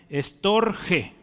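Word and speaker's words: storgē: otro tipo de amor storge esta es como una s storge sí un acento en la e ese amor storge es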